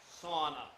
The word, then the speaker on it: sauna: Sauna. No, sauna. It has 3 syllables.